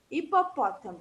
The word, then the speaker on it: hipopótamo: falar hipopótamo mas é esse H aqui ele não tem som né então é como se a palavra começar a excluir e só tem esse assento aqui porque essa sílaba do pótamo ela é mais aguda e aí finalizar com tamo tá hipopótamo Tá certo e